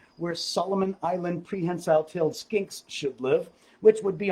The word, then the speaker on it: skink: geico he's a skink s-k-i-n-k skink rhymes with stink but my skink does